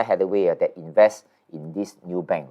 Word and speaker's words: Nubank: So in other words, this NU, right, is pronounced as new. Yeah, I was thinking, is it new or new, Yeah, so I went to YouTube and figured out they pronounce it as new. Okay, so I'm going to pronounce it as Nubank, but it's NU, NU.